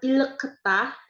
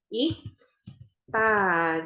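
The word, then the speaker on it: 읽다: sebelahnya Ta Gitu ya Nah ini dibacanya Bukan ileketa susah ya tapi l-nya kita hapus jadi Ik Ta Gitu iktaya membaca gitu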